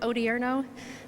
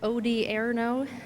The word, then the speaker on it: Odierno: for those of you who don't know General odierno pronounce odierno o-d-i-e-r-n-o first name Ray he is a major